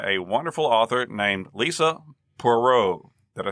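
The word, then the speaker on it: Poirot: o t but it's she told me it's pronounced perau uh we are very grateful here at Remnant stew to miss perau for granting us permission to quote directly from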